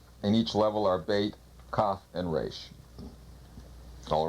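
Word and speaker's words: בית: of this second letter of the alphabet is bait pronounced b or V usually it means a house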